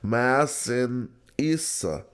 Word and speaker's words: Masinissa: Masinissa.